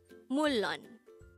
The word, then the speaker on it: 물론: combine the angle for each of these two syllables to form the angle of the word mullon and that is how we write mulon in